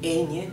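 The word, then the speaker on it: eñe: typical the Spanish letter how is it pronounced I know this sound does not exist in English but it does exist in Italian in Italian you produce the same sound with a GN okay new like in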